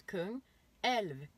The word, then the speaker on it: Kungälv: I was like, how do you pronounce it? So I said Kungälv. I say Kungälv. He goes Kungälv.